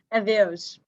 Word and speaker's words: Adeus: Adeus.